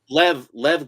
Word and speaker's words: Lev: there's no and the I but know I there's no extra E. If there was an extra E, it would be Leave, but because there isn't, it's just Lev Gleason.